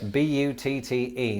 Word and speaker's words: butte: Yes, B-U-T-T-E.